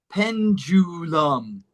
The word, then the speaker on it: pendulum: The first U is U, U, U. penju. Penju. The second U is Or lum, lam. pendulum, Pendulum.